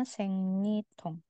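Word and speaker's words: 생리통: Terus ada yang namanya sengnyitong ada yang pernah dengar enggak sengnyitong bacanya sengnitong sengnitong ini nyeri haid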